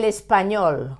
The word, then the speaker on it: español: El español. Why do we stress the last syllable?